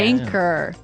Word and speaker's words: anchor: Anchor. Anchor. Anchor. Now, it's spelled Anchor. Right. But you don't pronounce the CH as you normally would, right?